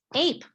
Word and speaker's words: ape: And I know Jennifer went over this yesterday, and the E is silent. So we would cross it out, and it does not make a sound. So a word like ape has two phonemes, A, P.